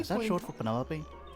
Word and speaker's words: Penelope: short for Penelope? Officially, yes, but I never can be bothered with all 4 syllables of it.